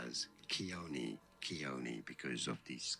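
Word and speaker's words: Khione: okay Kon Keon Keon let's see how to pronounce that in English is generally said as ke Keon because of these K now it keone got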